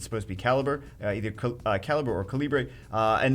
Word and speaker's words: Calibre: I know I'm going to be saying that, but Bagel, no, you pronounce it Caliber when it's with this guild, Caliber.